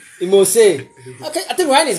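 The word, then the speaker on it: emose: Imose. Imose. Okay, I think Ryan is getting there. What? Ryan, once again, what? Imose. It's M-O-S-E. Not imos.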